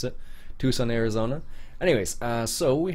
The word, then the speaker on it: Tucson: Tucson I think you how you're supposed to pronounce it it's not tusin uh it's Tucson I believe it's how you're suppos most people pronounce it Tucson Arizona anyways uh so we have nothing fantasy